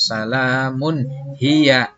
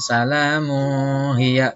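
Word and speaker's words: سَلَامٌ هِيَ: Atau salamun hiya, bukan salamu hiya, tidak boleh, ya, tapi dibacanya jelas.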